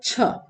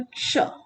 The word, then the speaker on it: क्ष: यहाँ पे क्ष, इसका प्रोनाउंसिएशन सही ढंग से अगर किया जाए, सभी लोग को बोलते छ, बिल्कुल नहीं बच्चों, इसका प्रोनाउंसिएशन है क्ष।